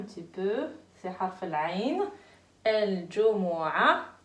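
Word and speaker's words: الجمعة: Al-Jumu'a. On ne prononce pas ta à la fin.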